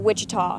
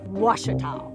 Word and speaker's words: Ouachita: Back in Texas, everybody pronounces it Wichita, but really, it's Ouachita. Ouachita.